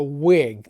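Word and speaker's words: Whig: the crown you were called a wig that's spelled w-h-i-g think you know political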